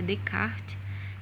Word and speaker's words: Descartes: O racionalismo ele teve início, com Descartes, a pronúncia é assim mesmo, apesar de se dizer Descartes, de se escrever Descartes, mas a pronúncia é Descartes, porque é um nome francês.